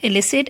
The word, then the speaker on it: illicit: i is elicit and illicit again both the words have different spellings but they are pronounced in the same manner it means we must